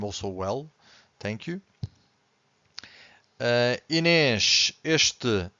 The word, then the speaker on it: este: The word starts with ES consonant, but we have to stress the first syllable. So in this case, we have to say este, so you can clearly hear the first syllable.